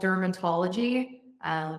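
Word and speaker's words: Drmtlgy: Yeah, there's a former client called Dermatology. It's spelled like dermatology, but without any vowels.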